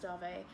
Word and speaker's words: Dave: dave it's about dave it's pronounced darvey and um let me